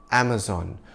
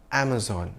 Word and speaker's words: Amazon: This is an American multinational, so we go with the American pronunciation of the name, Am-uh-zon, where zon rhymes with dawn.